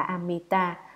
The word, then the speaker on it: Amita: Chữ A-di-đà là tiếng Phạn ở Ấn Độ, nguyên âm đọc là Amita, dịch nghĩa ra chữ